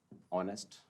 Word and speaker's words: honest: ऐसे फाइट में G silent है और स्ट्रेट में फिर अगेन GH साइलेंट है, तो GH इज। अब इसमें देखिए आप, HONEST ऑनेस्ट, HONOUR honour, HOUR आर, और आर है लेकिन